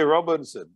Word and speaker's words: Robinson: say it to them can you say robinson that has three syllables has two syllables